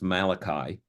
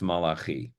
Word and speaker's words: Malachi: and his name is in English would be pronounced Malachi in Hebrew it's Malaki and it's very interesting